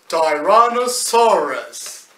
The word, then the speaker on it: Tyrannosaurus: Anyways, it is pronounced Ty Ran O Sar Us Tyrannosaurus.